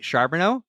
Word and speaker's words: Charboneau: I have a hard time pronouncing words but I think I got your last name right. Sharono, you nailed it.